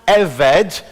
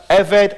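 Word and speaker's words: עבד: that big word in the middle, and it's pronounced eved, and it can be written now either as ebed or eved, with a little apostrophe.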